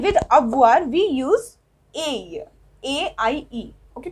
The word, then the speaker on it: aie: With tu and with avoir we use aie, A-I-E. Okay, pronunciation is aie.